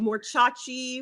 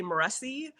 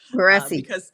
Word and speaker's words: Moreci: well, technically it's Moreci, but my ancestors have since Americanized it Yes. when they came over to the US. So we just say Moreci, Moreci.